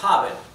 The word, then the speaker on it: haben: La h no es muda en alemán. La h se pronuncia como una J muy sutil, como una exhalación en realidad. Bien, ¿cuáles son los usos del verbo haven?